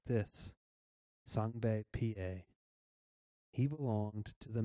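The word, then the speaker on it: Sengbe Pieh: small village you say it's Natan like this sunbae pa he belonged to the Mende tribe you say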